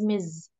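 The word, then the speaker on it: Ms: sorry um number four like M and S and we pronounce it as Miz uh we use this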